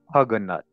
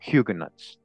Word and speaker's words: Huguenots: big disclaimer now so in my old videos I used to say hug a nut all right so don't kill me okay I say it correctly now hugen nuts all right hugan nuts but at the time